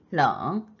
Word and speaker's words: 冷: 天气预报说明天 끊고 比今天冷. L 발음할 때 혀가 윗니 뒤로 가면서 편하게 발음하시면 됩니다.